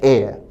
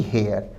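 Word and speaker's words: heir: शब्द का उच्चारण है एयर ना कि हेयर। एयर एच साइलेंट है।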